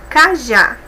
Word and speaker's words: cajá: Cajá, última sílaba forte, né? A segunda sílaba aí é forte, é oxítona, porque é a última, e termina em A, é acentuada.